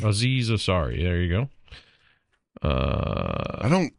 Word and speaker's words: Aziz Ansari: Aziz Ansari. Aziz Ansari.